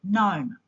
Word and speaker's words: gnome: G is a silent letter in the word gnome.